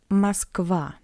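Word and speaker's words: Москва: A is stressed and O is unstressed. That's why we read it masva.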